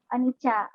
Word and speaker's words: Anicca: Anicca. Cara bacanya Anicca.